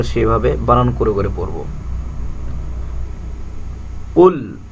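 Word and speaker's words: قُلْ: বানান করে করে পড়বো কুল এখানে কফটা কলকলা হবে মোটা হবে বাড়ি খাবে তালুর সাথে ধাক্কা দিয়ে পড়তে হবে কুল আউ আডা বলতে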